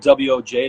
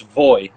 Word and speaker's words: Woj: But in the Polish language, the W is a V, and the Y and the J is a Y. So it's Voy instead of Woj.